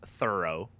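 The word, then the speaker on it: Thorul: your dude so uh his name uh thor ul stormfang pronounced thorough that's canon he's a blue dragonborn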